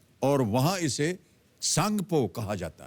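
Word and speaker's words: Tsangpo: वो तिब्बत चीन में है और वहां इसे सांगपो कहा जाता है सांगपो यानी कि टी एस ए एन जी पीओ इसकी स्पेलिंग है अरुणाचल से गुजरने वाले इस हिस्से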